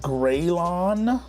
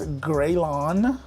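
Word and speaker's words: Graillon: new next up it's gryon I always used to pronounce this incorrectly but it's gryon from Auburn Sounds version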